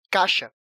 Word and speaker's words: caixa: A letra "I" é enfraquecida na pronúncia "cai", e no dia a dia nós falamos "caxa", e não "caixa".